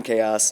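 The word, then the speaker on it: KOS: I know there's not a dash in there, but I always like to pronounce it that way. So let's talk about moving from chaos to chaos.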